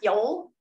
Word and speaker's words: yule: um one of them is called yule y-u-l-e pronounced yol and was a nordic celebration observing the winter